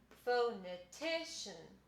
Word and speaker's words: phonetician: the bottom so what these two marks tell us is ti is the most important syllable and fo is the second most important so it would be phonetician and that tells us how to pronounce the word something i want to